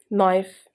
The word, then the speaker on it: knife: This may follow rules, as if K is followed by N, then K is silent. For example, knife, know, and knowledge.